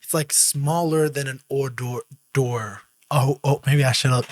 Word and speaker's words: hors d'oeuvre: Simply hors d'oeuvre.